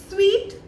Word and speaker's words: suite: तो यहाँ पे जो हम स्वीट यूज़ करते हैं SUITE, वो हमारा स्वीट प्रोनाउंस होता है और उसका मतलब होता है जो एक होटल का रूम होता है।